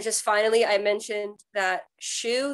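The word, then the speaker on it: Schuh: finally I mentioned that shoe there's a store called shoe I think it's spelled c s c h u h or something like that but they are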